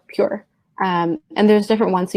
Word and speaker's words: pjur: So it's spelled PJUR. Got it. But it's called Pure.